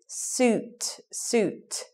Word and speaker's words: suit: Suit. Some people say sweet. All kinds of wrong pronunciations for that one. Thing to remember there is it's the long U sound.